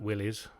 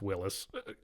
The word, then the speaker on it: Willys: It's not Willies, even though it's fun as that is. It's Willis.